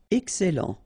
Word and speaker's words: excellent: Excellent. Okay, you've got double L here, and then it will open the sound of your here, and it will be e.